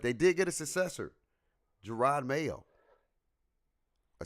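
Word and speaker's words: Jerod Mayo: I don't know what team, but they did get a successor, Gerard Mayo. I said it right. I pronounced that You thing did.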